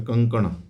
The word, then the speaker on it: कंकण: कंकण ण होता है उसमें। ये देख लीजिए इसकी स्पेलिंग।